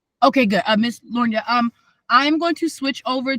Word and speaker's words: L’Ornya: Lornia. Okay, good. Miss Lorna, I'm going to switch over to my phone because my Okay.